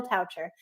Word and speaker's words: Toucher: guest is coucher rhymes with voucher just in case you wondered if you see it voucher just think of voucher toucher this guy is so